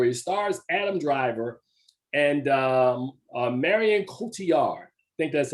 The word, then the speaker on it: Cotillard: And before I get to it tells a story, it stars Adam Driver and Marion Cotillard. I think that's how you pronounce her name. Am I correct? Cotillard, yeah.